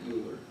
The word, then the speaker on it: Euler: Don't say Euler, say Euler. Not Euler. That hurts my ears. Euler is how you say that.